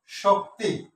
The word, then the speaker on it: শক্তি: আমরা আরো কয়েকটি শব্দ চেষ্টা করি, যেমন শক্তি, শক্তি। এখানে যদি এই শব্দটার উচ্চারণটা হচ্ছে এরকম, শক্তি, শক্তি, তাহলে শোক একসাথে বলতেছি, তিনটা আলাদা করে বলতেছি, শক্তি।